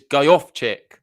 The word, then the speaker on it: Gojowczyk: The pronunciation is Gojowczyk.